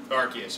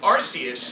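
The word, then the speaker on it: Arceus: is your butt okay so if you call him arus it is like the American equipal calling him Aus and nobody will take that seriously and everybody's supposed to take archus very seriously so that one changed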